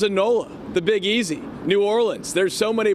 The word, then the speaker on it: New Orleans: knows what he's doing he's a total Pro New Orleans that that dude was born here for sure